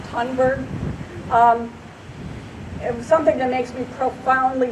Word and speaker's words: Thunberg: Driven, as has been stated, and I'm sure you all know, by Greta, I believe her name is pronounced Thunberg.